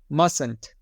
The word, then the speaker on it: mustn't: is going to be mustn't must so the first T is silent must and because ment is